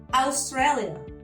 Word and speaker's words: Australia: Australia. We write it the same, the spelling is the same, but of course the pronunciation is very different.